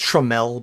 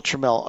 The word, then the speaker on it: Tramiel: and it's pronounced Trammell, by the way. Well, Tramiel, sorry, and also, but what I know he said, our uncle said this specifically.